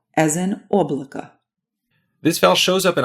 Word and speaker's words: облако: Next up is O, as in облако.